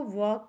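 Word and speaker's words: walk: मतलब बकरी होता है डब्लू ए एल के को वॉक कहते हैं इसमें एल साइलेंट है वॉक का मतलब होता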